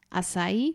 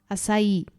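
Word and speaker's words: açaí: Akcent nad literką i więc bardziej akcentujemy tutaj końcówkę Czyli mamy nie asai tylko asai tutaj taki Taka mała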